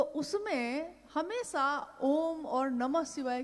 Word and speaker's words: ओम: ध्वनि की आवाज थी अ उ म अगर एक साथ सुना जाए उसको तो उसकी आवाज गूंजती हुई ऐसी है जैसे हम बोलते हैं या उच्चारण करते हैं तो हम कहते हैं ओम है वो अ उ